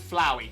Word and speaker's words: Flowy: It is indeed like flower, more like flower, so it's Flowy.